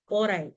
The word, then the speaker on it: ORAI: ORAI, right? So that's another tool. It's spelled as ORAI.